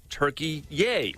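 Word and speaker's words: Türkiye: country be referred to not as turkey but turkey yay that's how it's pronounced and spelled in turkish america is listening to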